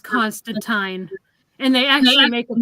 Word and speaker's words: Constantine: definitely check out Trina's review on him that's Constantine isn't it yeah Constantine stuff well I recently I recently learned that it's it's actually pronounced Constantine and they actually make a point of that